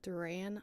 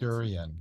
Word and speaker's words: durian: I think it's called Duran I'm probably pronounced durian durian there you go and very very sulfuric